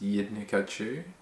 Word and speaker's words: Yidnikachu: My real name is Yidnikachu, rhymes with Pikachu.